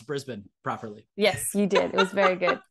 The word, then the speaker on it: Brisbane: just need to say you did such a good job with Brisbane a lot of Americans say Brisbane but you said Brisbane that's really good oh yeah but now